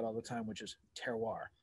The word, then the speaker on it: terroir: the time which is terroir right a very important word for any aspiring wine geek is the closer to french you want to pronounce it it always takes that